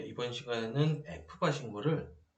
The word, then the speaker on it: FBAR: 자, 뭐 FBAR이라고 읽기도 하지만 보통 이제 F바라고 읽고요.